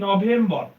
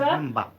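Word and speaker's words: November: ও এখানে ও উচ্চারণ হবে কি হবে ও উচ্চারণ হবে যেমন একটা এক্সাম্পল দেই আমরা বলি কি নভেম্বর আমরা কি বলি নভেম্বর একদম ভুল ইটস নভেম্বর wrong pronunciation correct pronunciation is নভেম্বার এই যে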